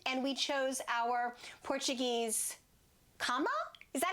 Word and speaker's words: cama: change of scenery and we chose our Portuguese cama?